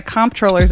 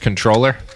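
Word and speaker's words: comptroller: Comproller cuz it's supposed to be pronounced controller.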